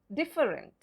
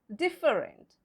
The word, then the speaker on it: different: Well, no, it's wrong. Because again, silent letter. And which is that silent letter? It's the E after double F. So, how do we pronounce it? We pronounce it different. It's not different. It's different.